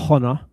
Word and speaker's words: honor: Yeah, careful with the pronunciation. It's honor, not honor.